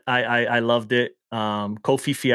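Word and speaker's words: Koh Phi Phi: i loved it um kofi fee i think it's pronounced if i'm correct um i honestly half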